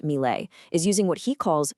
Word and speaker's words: Milei: President Javier Malai, that's pronounced MLE, is using what he calls shock therapy to fix a broken nation.